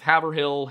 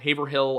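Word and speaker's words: Haverhill: The Grafton County Superior Court located in North Havill, Haveril, Haverh Hill. I I had like eight different ways of pronouncing this given to me in the comments.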